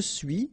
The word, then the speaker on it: suis: Okay, so je suis, final S not pronounced, tu es, okay, so